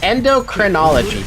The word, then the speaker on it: endocrinology: see the um how do I pronounce this word? Ender endocrinology. That's how you pronounce it.